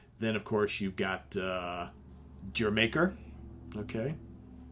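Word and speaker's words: D'yer Mak'er: Then, of course, you've got Jamaica, okay? All these, everybody always corrects me on how you say it. Jamaica, did you make her? However, Jamaica. I guess that's how it's supposed to be said.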